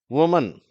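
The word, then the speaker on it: women: அது உச்சரிப்பு பாருங்க. எழுத்தை பாருங்கடஓ எம் இன் அப்படின்னு இருந்தா கூட நான்டள்ஓ இருக்குன்னட்டு ஓன்னு சொல்றது இல்ல அதவி அப்படின்னுதான் சொல்றோம் விமன் அப்படின்னு சொல்றோம் சரியா அடுத்தது டூத் டீத் டூத்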